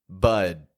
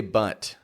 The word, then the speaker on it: bud: the bud Buu D A lot of people including native English speakers will mispronounce this to say butt like B TT let's